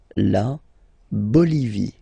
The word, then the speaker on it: Bolivie: Okay, final E not pronounced. La Bolivie.